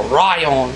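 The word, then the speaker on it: ライオン: first of K's Metals the lion metal or Ryon if you want to go by the Japanese pronunciation very nice orangey color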